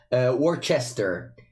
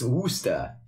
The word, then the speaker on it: Worcester: not Toronto, as an Italian would say, or Worcester. It's Worcester. So like, there's like these 2 cities always like, why are they pronouncing it in this way?